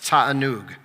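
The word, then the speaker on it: תענוג: And the Hebrew word associated with that idea of pleasure or delight is pronounced tatanoo.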